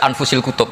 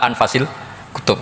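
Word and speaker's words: أَنْفَسُ الْكُتُب: samp anut bacaan sayaja di sini ditulis anfusil kutub kalau saya baca anfasil kutub karena maknanya kitab ter baik Kalau kitab terbaik bacanya bukan anfus tapi apa anfas ya nanti kamu debat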